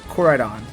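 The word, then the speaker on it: Koraidon: Corridon. That's how you pronounce it.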